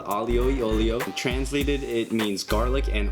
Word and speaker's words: aglio e olio: alio e olio olio so in italian it's called alio yolio translated it means garlic